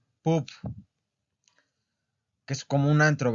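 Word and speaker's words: pub: Esa palabra que es poop, que empieza con P. Bueno, la del letreo es P-U-B, poop, que es como un antro, ¿verdad?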